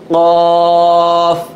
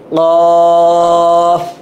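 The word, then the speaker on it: قاف: মাত্রার উপর টান নুক্তা থাকলে সেটাকে বলা হয় কফ কফ কি হবে উচ্চারণটা গলার ভিতর থেকে আসে কফ কফ এটা তারপরে আমরা কি আছে আমরা দেখব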